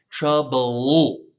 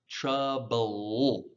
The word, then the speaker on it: trouble: Trouble. Just say la, but don't say the Trouble.